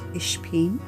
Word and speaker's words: Ishpin: Meet Ishpin, who belongs to Brid in Galway, Ireland, and it is pronounced Ishpin. Am I saying it right? Ishpin? Ishpin?